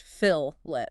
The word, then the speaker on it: fillet: Phillet welds. Pronounced fillet.